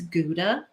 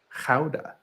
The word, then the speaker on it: Gouda: it like a nice gouda maybe a smoker I just learned the other day as as with so many Dutch things I'm probably gonna butcher it but it's supposed to be pronounced houda yeah it doesn't work